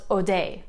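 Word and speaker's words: Hodei: it seems to be mostly spelled with an h but it can also be spelled without the h either way it's pronounced odai here we have another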